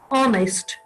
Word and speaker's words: honest: H is a consonant letter, but in many of the words, H is silent, like our, honest, higher, and honorable person.